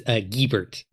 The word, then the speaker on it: Giebert: I want to correct your pronunciation. It's Giebert, because this is another guy I play D&D.